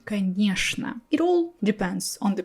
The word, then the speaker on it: конечно: So I'm not saying конечно, I'm saying конечно. It all depends on the person and on the word. So for me, only these two words, что and конечно, will be pronounced with sh sound.